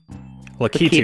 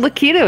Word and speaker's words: Lakitu: Lakitu just seemed... I mean, Lakitu is technically not wrong. It's just you're putting the emphasis on the wrong syllable.